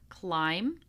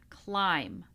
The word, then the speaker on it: climb: This is the silent B. So we do not pronounce the B in any of these words. We have climb, numb, womb, comb, lamb, debt, doubt, subtle. again. Climb, numb, womb, comb, lamb, debt, doubt, subtle.